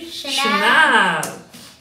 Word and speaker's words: Chanel: do you know so many a times people mispronounced as channel channel no it's simply shayana move on to next how we pronounce it